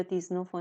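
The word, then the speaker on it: dix-neuf: میشه مثلاً دی نف ولی اینجا یه استثنائه توی شمردن اعداد اینجا با اینکه این حرف وایل نیست ولی این صدای ز می‌گیره حالا مدل دیگشو پایین‌تر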